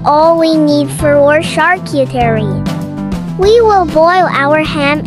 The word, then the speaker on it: charcuterie: is all we need for our charcuterie. We will boil our ham and hot dog. While it's boiling, let me tell you about charcuterie. What is charcuterie? In the French tradition, charcuterie, pronounced charcuterie, is the art of